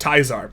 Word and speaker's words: Caesar: Everyone knows this is in fact Project Teaser, or if you pronounce it correctly, Project Tizar.